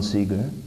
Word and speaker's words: Seeger: John Seeger, and he was Pete Seeger's brother. Really? Yeah. Oh, so it's spelled S-E-A, is it?